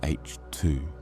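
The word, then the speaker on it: H II: Emission nebulas are also called H2 regions, pronounced H2.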